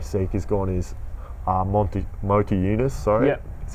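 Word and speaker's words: Motiejūnas: now that omir seek is gone is uh monty motor eunice sorry yeah that's how you pronounce his name he started to play more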